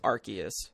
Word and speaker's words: Arceus: saying pokemon legends arceus i've always pronounced it arceus am i incorrect uh it's one of those gift jif situations uh interesting it is it is it is arceus all right arceus tim